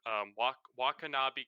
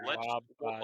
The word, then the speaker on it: Wabanaki: Sorry, I can't pronounce words. Wakanabe Confederation. If anyone, Wabanaki. Wakanaki. Wabanaki. Okay, okay. Wabanaki.